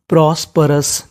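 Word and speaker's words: prosperous: तो पूरी meaning प्रॉस्परस, प्रॉस्परस।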